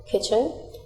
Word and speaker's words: kitchen: here W is silent kitchen here T is silent not here K is